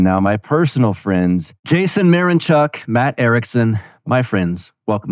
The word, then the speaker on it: Mironchuk: My personal friends, Jason Mironchuk, Matt Erickson.